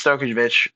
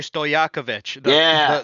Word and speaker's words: Stojakovic: It's Stokovic, right? Whatever the heck his name is. Oh, Andrei Stojakovic.